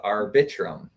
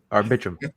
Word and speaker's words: Arbitrum: chat yeah but this this is amazing you pronounce it arbitrum uh we just learned that from Dylan today so you know our bedroom I'm just gonna keep saying it like I'm saying it arbitrum yeah absolutely AKA Fame I'm buying Lambos and